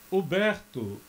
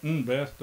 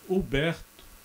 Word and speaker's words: Huberto: Huberto, e é essa a pronúncia, não é Humberto, é Huberto Roden.